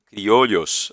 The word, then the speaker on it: criollos: Em português, em espanhol se fala criollos, né? Tem uma pronúncia em que esse duplo L aí, ele tem um som quase que de LH, eu não falo bem